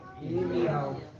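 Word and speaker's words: ירמיהו: Como é que é a pronúncia do nome Jeremias no hebraico? Irmial. Hã?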